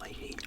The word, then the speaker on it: Leahy: Leahy, although we'd probably call him Mr. Lay in Australia. Just the way we pronounce that word.